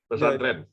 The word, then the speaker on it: Pesantren: Am I pronouncing correct? Pasantren is a religious institutions, right? Boarding school. Religious Islamic boarding school. Yeah, religious Islamic boarding school. Pesantren.